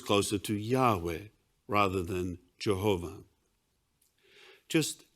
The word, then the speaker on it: Yahweh: gron is yhw uh which most Scholars agree the most accurate pronunciation of God's name is Yahweh um I'm just going